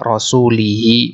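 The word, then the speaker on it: رسوله: Karena ada waw di sini maka dia dibaca rasulihi majrur.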